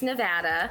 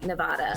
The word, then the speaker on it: Nevada: yes and it does it comes from a spanish word for snow-capped mountains and so if you're pronouncing it the spanish way it would be nevada so that makes sense that's not how we pronounce it so nevada nevada